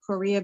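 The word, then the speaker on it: Correia: I also apologize uh my I pronounce it Korea because I'm actually Portuguese and I do speak several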